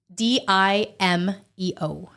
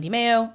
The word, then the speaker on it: DiMeo: DIMEO. That is so simple. It's super easy. Everyone mispronounces. They go DiMeo. I've had DiMeo. I'm like, what? DiMeo? No, it's DiMeo.